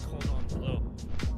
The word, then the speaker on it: cordon bleu: It's not fancy because you're pronouncing it wrong. It's cordon bleu.